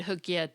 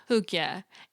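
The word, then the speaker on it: hygge: emotional well-being unquote Oxford dictionaries actually include Ed hooka 2 and their definition notes that it's regarded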